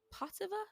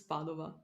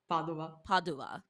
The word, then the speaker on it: Padova: The only issue is that because it was at or in is it Potseva? Is that the correct pronunciation, or am I fully wrong? Pavola? It is adorable, but it's Padova. Padova.